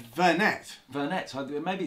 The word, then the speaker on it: Vernet: And on this week's show, first of all, we've got Thumbtipedia by Verne. Is it Verne or Vernet? Translator. I have always called it Verne, yeah. With a silent T.